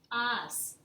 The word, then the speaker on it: has: Tú has. Notice that I do not pronounce the H. The H is silent.